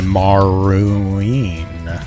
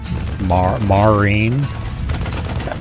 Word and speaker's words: marine: Open up with a maroon. Yes. Marine. It's just the wrong way to pronounce marine, but I'm okay with it.